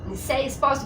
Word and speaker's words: Nilcéia Esposito: Nicéia Espósito, pronunciei correto, Nicéia? Pronunciou. Nicéia Espósito.